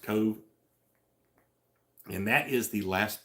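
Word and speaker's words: Cobh: there is Cove uh it's kind of spelled funny uh but it's pronounced Cove and that is the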